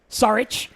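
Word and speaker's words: Šarić: too many different ways just just imagine an H on the end Sarich sorry it's like my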